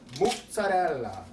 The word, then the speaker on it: mozzarella: And if you listen to that song, she will say in part of the song, mozzarella, and you'll know that that's how you're supposed to pronounce it.